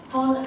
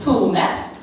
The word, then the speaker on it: Tone: Quindi lascio la parola a Ton, ho detto bene? Thank you. My name is Tone. It's strange to pronounce that in English.